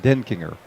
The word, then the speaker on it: Denkinger: That's how he told me to pronounce it, Denkinger.